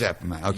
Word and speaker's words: Appomattox: It is Appomattox.